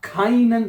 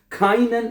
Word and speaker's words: keinen: अब यहां पे भी देखें, क्या EI इकट्ठा है ना, तो हमने इसको आई पढ़ा है, जहां पे EI इकट्ठा आएगा उसको आई का आपने प्रोनाउंस करना है।